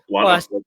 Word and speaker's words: Blantyre: Blantyre. It's a native of Blantyre pronounces the T.